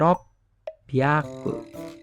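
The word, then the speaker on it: ろっぴゃく: 6 itu berubah jadi P nanti. Bukan hyaku tapi pyaku.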